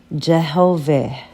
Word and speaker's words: Jehovih: And he said, which is now pronounced Jehovih, and is written thus.